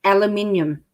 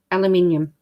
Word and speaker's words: aluminium: her it's what that sounds hard to say aluminium so i'm actually saying it correctly it's just aussie style yes so if anyone wants to say that you're saying it wrong let's just say that you're talking aussie aluminium your dad probably taught